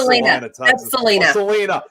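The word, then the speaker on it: Celina: Texas it's c-l-c-e-l-i-n-a but still pronounced Selena Selena yes okay yes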